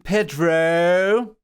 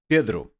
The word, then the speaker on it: Pedro: the description below before we begin I am Pedro Pedro my name is